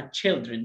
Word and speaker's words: children: والكلمه دي بننطقها غلط ليه؟ لاننا بنقول طفل يعني تشايلد، فهنقول اطفال تشايلد، لا اسمها تشيلدرن، شورت اي وشورت اي، تشيلدرن تشيلدرن يعني اطفال.